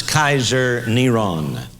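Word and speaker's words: קיסר נרון: five volume set this his name was pronounced as Kaiser neron and you can see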